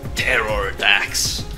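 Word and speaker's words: Pterrordax: You can just pronounce it without the P, and it's Terror Dax.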